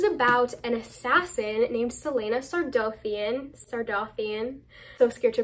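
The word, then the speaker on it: Sardothien: Sardothian. That's how I always said it. It's probably Sardothian, but I don't like that as much.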